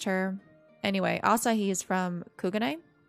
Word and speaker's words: Kugane: anyway asahi is from kugane which is apparently how you pronounce that not kugane kugane i'm bad um and fian daniel